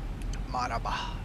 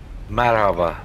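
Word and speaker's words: مرحبا: Marhaba. How do you say that? Marhaba.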